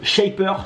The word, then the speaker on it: Shapr: monté différents projets notamment un projet qui s'appelle shapers ses personnages le prononce bien shaper qui permet de rencontrer des